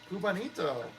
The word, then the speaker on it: Cubanito: Cubanito, I see you there. Yes, I did pronounce that correctly.